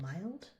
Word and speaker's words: mild: But sometimes this is a long i sound in some words. Think wild. There's only three words where this happens commonly, like wild, child, and mild. Um but we do have to teach that explicitly because that's an exception.